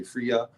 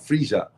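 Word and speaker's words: Freyja: y a a friia some people say friia but it's it's a j sound FIA but that's where Friday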